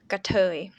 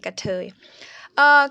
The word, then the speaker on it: กะเทย: So the first syllable กะ vowel อะ and the other one เอ่ย สระเอ and e at the end เอ่ย กะเทย กะเทย.